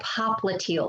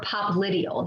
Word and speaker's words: popliteal: knee here is the popliteal space or popliteal you'll hear it pronounced both ways popliteal or popliteal it is the posterior